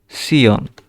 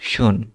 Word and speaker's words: tion: তারপরে আমরা দেখব TAION, এটাকে উচ্চারণ হবে সিয়ন, ঠিক আছে? অলওয়েজ সিয়ন, নেভার শুন, ঠিক আছে? তাহলে জার্মানে শিয়ন সবসময় শিয়ন উচ্চারিত হয়, ইংরেজির মতো শন নয়, ঠিক আছে?